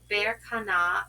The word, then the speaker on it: Berkana: Pronounced Berkana, birth cycles of life, creativity.